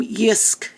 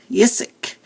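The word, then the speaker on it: Jysk: there in the corner see and you actually pronounce the name yisk yissek and it's swedish and it is kind of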